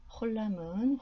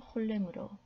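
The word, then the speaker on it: חולם: 카마츠는 카메츠로 불리기도 하고, 홀람은 홀렘으로, 키부츠는 쿠부츠로 불리기도 합니다.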